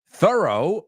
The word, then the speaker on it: thorough: absolutely the next one thorough rhymes with burrow distrito very good great